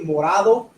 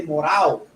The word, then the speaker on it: morado: Because we say, some people will say morado, other people will say morao, right?